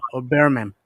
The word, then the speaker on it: Birmingham: Basically, that's what they're talking about, or maybe Birmingham, or Birmingham. I find out the H is silent in most of these cities in England.